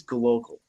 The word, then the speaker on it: glocal: Why exactly is gloal, if uh people can hear, I'm spelling it uh pronouncing it with a C instead of a B.